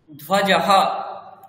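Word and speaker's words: ध्वजः: Flag, ধ্বজঃ, ধ্বজঃ, ধয় বয় জ বিসর্গ, ধ্বজঃ, ধ্বজঃ, flag.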